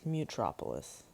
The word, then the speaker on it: Mutropolis: I don't know what I pronounced it like in the beginning, but it's Mutropolis.